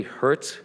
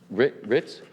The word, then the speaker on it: Hertz: honored guest is emily hertz am i pronouncing that correct ritz oh the h is silent okay emily is a